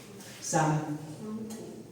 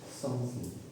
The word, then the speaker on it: something: I never saw your tongues out. Something. Something. Pull your tongue out.